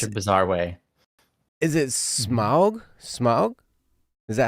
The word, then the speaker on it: Smaug: Is it Smaug? Smaug? Is that how you pronounce that? Smaug? I would say Smo. Smo? Yeah. I've been lurking at random points. Smo, like snow.